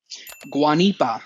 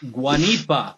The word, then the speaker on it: Guanipa: Alex how do you say your last name guanipa guanipa something I will never be able to properly